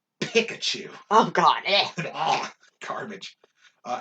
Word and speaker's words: Pikachu: we left off radicky spiro phiro ekans arbok pikachu what the what the are you talking about it's pikachu oh god oh garbage uh anyway raichu sandshrew